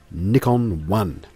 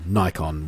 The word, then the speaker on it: Nikon: mirrorless camera system which they're calling nickon one or Nikon One depending on how you choose to pronounce it I go with Nikon sounds more Japanese I think anyway they're